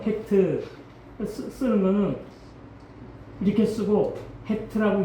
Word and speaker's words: 헤트: 이게 이제 8번째인데 읽을 때 해트라고 읽어요. 해트 쓰는 거는 이렇게 쓰고 해트라고 읽어요.